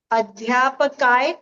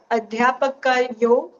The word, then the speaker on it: अध्यापकयोः: अध्यापकः, अध्यापकौ, अध्यापकाः, अध्यापकम्, अध्यापकौ, अध्यापकान्, अध्यापकेन, अध्यापकाभ्याम्, अध्यापकैः, अध्यापकाय, अध्यापकाभ्याम्, अध्यापकेभ्यः, अध्यापकात्, अध्यापकाभ्याम्, अध्यापकेभ्यः, अध्यापकस्य, अध्यापकयोः, अध्यापकानाम्, अध्यापकयो नहीं, अध्यापकयो हो। अध्यापके, वो विसर्ग का प्रॉपर उच्चारण आना चाहिए, अध्यापकयो हो।